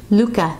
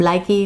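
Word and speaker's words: Lykke: don't, wooden Luca, which I learned how to pronounce today. Thank you, Stacy from Very Pink Knits. Luca needles. I've been calling them Likey, Lukey, Luca.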